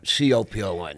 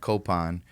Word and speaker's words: Copon: so many ways, but it's technically like it's Copon is the Filipino pronunciation, but I I used to say Capone, but then I'd show up to auditions, they'd spell like al Capone, right? So, I ended up started pronouncing it Copan, which tends to be cop cap, whatever.